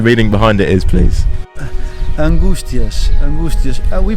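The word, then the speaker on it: Angústias: uh what the meaning behind it is please angustias we pronounce uh so in ireland we have we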